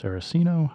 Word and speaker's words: Saraceno: Redbird, and I believe this is pronounced Saraceno. I could be wrong, but anyway, Redbird writes